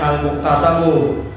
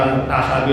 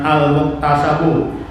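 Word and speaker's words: المكتسبُ: bil ahkamis syar'iyyati al-amaliyati al-muktasabu. Itu bacanya al-muktasabu ikut kepada al-ilmu, dia punya matutnya dari baris. Tadi baca al-muktasabi lagi, bacanya al-muktasabu.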